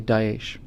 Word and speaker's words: Daesh: to say something like extremists have hijacked, it's pronounced Daesh, thanks guys, extremists have hijacked, the ideology of the German people.